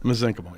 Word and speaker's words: mesenchymal: Mesenchymal, yeah.